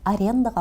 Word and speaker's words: аренда: На языке оригинала ударение в этих словах падает на второй слог, а не на последний.